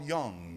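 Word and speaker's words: Jung: meetings talking about Carl Young juu n do you know who he was Carl Young his name's pronounced young it's ju u n g he was a man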